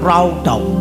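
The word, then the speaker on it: רָדָה: Kata berkuasa itu dalam bahasa aslinya radah, pengucapannya raudau. Pakai W ya, raudau.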